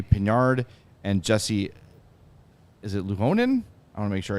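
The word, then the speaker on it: Ylönen: centering rafhael Harvey pinard and Jesse is it lonan I want to make sure I say it right yeah yonan you just made up that four I did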